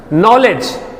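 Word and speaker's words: knowledge: कहां गया साइलेंट है नॉलेज उच्चारण करते हैं ना के साइलेंट है नाइफ के साइलेंट है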